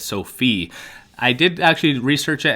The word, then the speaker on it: SoFi: been some comments correcting me saying that it's sophie i did actually research it and there was